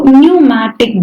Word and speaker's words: pneumatic: P is silent here. So pneumatic bones.